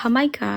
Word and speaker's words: jamaica: Jamaica? Yeah, Jamaica. That's how you pronounce. I always said Himika.